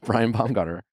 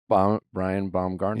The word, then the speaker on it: Baumgartner: mispronounce? What is it? Oh my God, now I have anxiety. Didn't I? Brian Baumgartner. Brian Baumgartner.